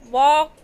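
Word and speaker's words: walk: में के साइलेंट है, वॉक में एल और आवर में एच साइलेंट है।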